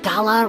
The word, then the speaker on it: gala: Isn't it weird how the word gala rhymes with voila, like a big performance reveal?